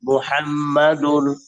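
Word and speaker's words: مُحَمَّدٌ: ইল্লাল্লাহু মুহাম্মাদুর না, মু হবে, মু। মুহাম্মাদুর।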